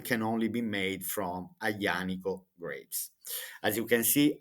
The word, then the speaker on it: Aglianico: So this wine can only be made from Aglianico grapes. As you can see, I'm pronouncing this name. I say Aglianico because in Italian the combination of the two letters G and L we pronounce Y.